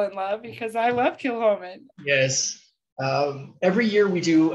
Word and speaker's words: Kilchoman: You'll notice it looks like it says Kilchoman or Kilcoman. It's pronounced Kilhoman. Again, we said Gaelic was mean. Ignore that C, pretend it's not there, it's Kilhoman.